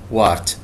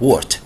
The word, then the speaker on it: wart: verruca معناها تأليل, wart باللغة العربية wart طبعا الـ A بعد ما تنطق الـ W قصدي بعد ما يجي بعدها حرف متحرك تنطق O فنطقها الأصلي هذه ليست wart إنما تنطق wart common wart which is called verruca vulgaris.